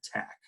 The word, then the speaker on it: Taq: polymerase taq polymerase and we pronounce it tac like tachy um it's called tac